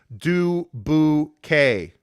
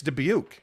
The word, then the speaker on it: Dubuque: story keith carl says people get pissed when outsiders make fun and pronounce it as do boo k wait people really pronounce it though it's dubuque bro like i mean any